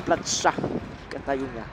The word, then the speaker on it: Plaça Catalunya: Donc ça c'est écrit C-D, et ça se prononce Plaça Catalunya.